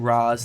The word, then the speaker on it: Ra's al Ghul: by two different names Ra's al Ghul in Ra's al Ghul I say Ra's al Ghul ok people have been saying raz people have been saying Roz throughout ever since the